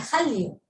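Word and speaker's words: 한류: Entonces, la palabra original, el primer carácter que ustedes ven aquí, se pronuncia han, ¿no? El segundo se pronuncia ryu, y ustedes cuando juntan el sonido, suena Hallyu, ¿no?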